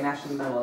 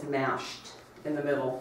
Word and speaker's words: MASHed in the Middle: Okay, MASH in the middle is what, okay. And let me go ahead and mention what that is, and actually it's MASHed in the middle. I've been saying it wrong.